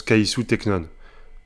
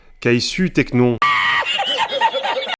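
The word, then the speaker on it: καὶ σύ, τέκνον: Et du coup, ça se prononce kaïsou teknon. Ou du coup, je suppose, kaïsu teknon.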